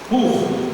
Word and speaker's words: pur: A palavra vem de pur, p, seria na nossa linda, nossa pronúncia. por por querer dizer sortes.